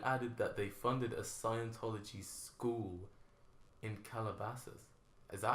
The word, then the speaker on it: Scientology: Scienceology. Scienceology. Isn't I'd love it? to pronounce it like that, just to like annoy a Scientologist. Isn't that Scientology? And like, we know how our fucking religion's called.